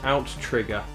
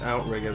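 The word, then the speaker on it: OutTrigger: it's developed by aim to again that's commonly mispronounced actually it is out trigger a lot of people call this outrigger but it is to tease out to trigger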